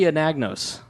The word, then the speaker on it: Anagnos: And joining us is Chloe Anagnos.